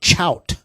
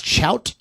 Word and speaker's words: Chout: That's Chout the band, and it's spelled CHOUT.